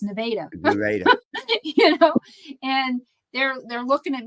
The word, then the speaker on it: Nevada: They keep saying Nevada, and it's like, no, it's Nevada.